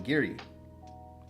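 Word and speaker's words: Garioch: Glen Giri.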